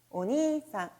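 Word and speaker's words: お兄さん: 형님 은 " 오니상 " 이시 죠 , 정확히 " 오니상 " 이시 예요 . 긴 모음 으로 발음 하는 것 이 좋습니다 .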